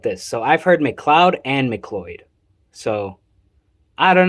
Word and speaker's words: McLeod: Also, it's pronounced McLeod.